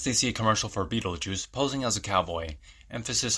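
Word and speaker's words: Betelgeuse: and Adam read about Beetle Geist pronounced Beetle Juice like the star Lydia starts taking pictures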